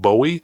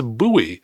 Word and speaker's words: Bowie: He tells me that I pronounced a town in Texas incorrectly. I said Bowie. He says it's Bowie.